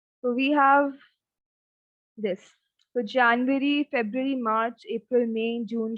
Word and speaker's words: Januar: Now don't call it as Januar. It's not J. This is year. So Jan, Nu, Ar. Ya, Nu, Ar.